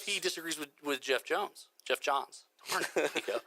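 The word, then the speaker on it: Geoff Johns: If Jeff Johns, I think is actually how you say it. Geoff. It's spelled Geoff. I think it's Jeff Johns.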